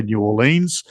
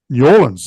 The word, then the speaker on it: New Orleans: And Lola is from the deep south of the United States, from New Orleans. Oh, She also told me how to pronounce that. She said, don't say New Orleans. It's New Orleans.